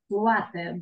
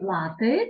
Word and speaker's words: łaty: Łaty, dobre, tak. Łaty i dużo dobra wymowa, це не лати, так, а łaty, це літерка та л, так, якої немає в українській мові.